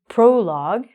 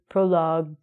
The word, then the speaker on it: prologue: Even if it happens in the end of a word, like this word, prologue, we don't say prologue-y. It's a G, a U, and a vowel, so it's going to be a silent U.